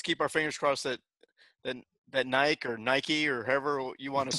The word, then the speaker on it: Nike: How do you say it? Nike or Nike? Nike. Hey, there you go. I guess it depends where you come from. I think this is a transatlantic thing, isn't it?